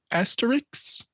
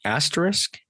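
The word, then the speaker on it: Astérix: Tau Tatis in Park Asterix. Park Asterisk? Asterix with an X.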